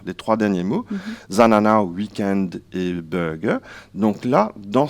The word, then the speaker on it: weekend: weekend et bien là à Maurice ça se prononce weekend on prononce pas le de final et pour